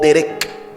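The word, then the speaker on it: דרך: sí del elefante hebreo se pronuncia o dereck con k los judíos a que nacen los judíos alemanes judíos del oriente de Europa la pronuncian es como una K Derek incluso eso es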